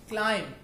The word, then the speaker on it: climb: फॉर example, climb, that is not climb, that is climb.